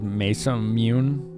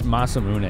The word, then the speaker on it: Masamune: it crop oh man used to pronounce that sword's name is mesam mune I'm sure I said it wrong too Commander Keen like it's masamune right I think something like that it's a Japanese like